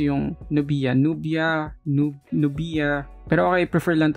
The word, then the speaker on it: Nubia: Paano nyo ba pinopronounce yung Nubia?